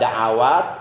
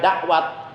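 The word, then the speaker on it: دعوات: Jadi jangan sampai guru kita membacanya ya mujibad da'awat, pangersa Abah membacanya ya mujibad da'awat. Sementara kita bacanya ya mujibad da'wat. Lalu siapa yang kita ikuti? Ngikutin siapa kita? Ngikutin pangersa Abah bukan. Kalau mau mengikuti pangersa Abah bacanya bukan ya mujibad da'wat, tapi ya mujibad da'awat. Da'awat ainnya fathah.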